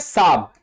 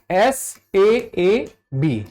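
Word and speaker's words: Saab: साहब एस ए बी ठीक है तो इसको उच्चारण में मत पढ़िए एस एबी अब ये भारत में रॉकेट लांचर बना रही है।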